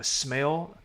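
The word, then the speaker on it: Smale: If you're in Blackton, uh if you live in the community of uh smell, smell, that's spelled S M A L E.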